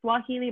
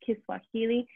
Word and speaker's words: Kiswahili: say it right um so it's kind of like swahili but like kiswahili um that they found